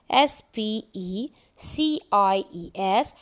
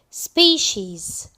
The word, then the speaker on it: species: that its spelling is s p e c i e s but it's pronounce pronounced species because c i e we pronounce it she c i e She